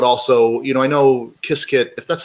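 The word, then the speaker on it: Qiskit: qs get kissed yeah everybody has their own pronunciation but i the creators of kia skate call it biscuit so i call it kiskin yeah yeah and you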